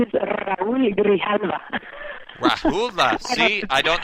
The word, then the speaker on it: Raúl: Okay, the name is Raúl Grijalva. Rahula. See, I don't know my Spanish, so thank you for... I know, it's a tough one, Raúl, because you have to roll your R's, and then Grijalva.